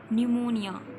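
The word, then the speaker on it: pneumonia: यानी फेफड़ों की सूजन निमोनिया न्यूमोनिया मतलब यहां पर हमारे पास पीछे जो है वह साइलेंट होगा के बाद है जल्द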